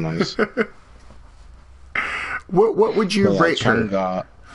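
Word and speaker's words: Chang'e: Changa. Changa. Okay, I've been saying that completely wrong. So what people say Changi or Change, and I'm just like, bro, just stop.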